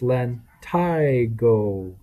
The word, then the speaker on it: lentigo: liver spots solar lentigo lentigo cenialis senile freckle pronounced len tygo uh super common in old people the plural